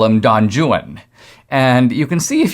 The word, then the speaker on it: Don Juan: Byron wrote a work called Don Juan, but in Byron's day it was actually pronounced literally Don Juan.